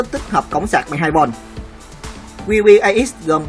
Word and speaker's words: QBIX: Đó là kiểu chơi chữ khi WBAX phát âm giống như Cubit, khối lập phương rất nhiều màu nổi tiếng.